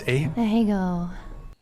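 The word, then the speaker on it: Ahegao: What is the, how's it pronounced? Ahego.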